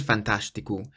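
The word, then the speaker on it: fantástico: fantastical and the word fantastic is pronounced a little bit strangely because the s in Portuguese when it's in front of a t is pronounced like a sh sound so fantastic it is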